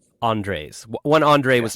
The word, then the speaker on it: Andres: How do you pronounce that? It's Andres. Andres.